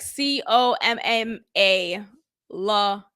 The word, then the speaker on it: Kamala: She's introducing her 2 daughters, and on this next clip here or picture, you see in the teleprompter is spelled Kamala, like Comma, La Harris.